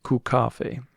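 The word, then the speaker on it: kaffe: and yeah sure enough the pronunciation is Cafe there's a real emphasis on the C if you don't know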